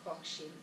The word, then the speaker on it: Hochschild: de Erving Goffman con la microsociología y esta Ali, bueno, que nunca sé porque los norteamericanos la pronuncian Hochschild, y yo diría que se debe decir Hochschild, pero bueno, ustedes saben a qué me refiero, ¿no?